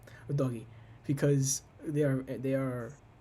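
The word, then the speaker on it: Udogie: deputies for poro and UD DOI OD DOI that's how you pronounce it o DOI because they are they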